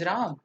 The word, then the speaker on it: राम: not Krishna its Krishna it's राम ना कि रामा it's Ravan तो शुड